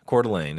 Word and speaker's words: Coeur d'Alene: So Coeur d'Alene is the Okay.